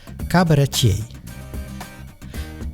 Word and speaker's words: cabaretier: The oudejaarsconference is a monologue held by a comedian, in Dutch cabaretier, also pronounced the French way.